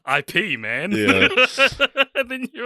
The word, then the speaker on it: Ip: So you said so you said IP Man is winning me when someone asks why I go to the toilet so much, and I said it's actually pronounced Ip, and you said you're